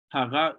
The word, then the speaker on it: haga: Haga ubuni, who sees you? Keep that in mind, that spelling and that pronunciation, haga, it's with that G, haga ubuni, who sees you?